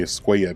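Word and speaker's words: Escuella: It's not Javier Skua, it's Javier Skua cuz these two L's make a Y sound.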